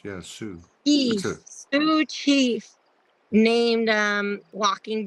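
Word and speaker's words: Sioux: gravestone and it's um a how do you pronounce s i o u x Su s i yes Sue s i o u x yeah Sue Sue Chief named um walking bear and I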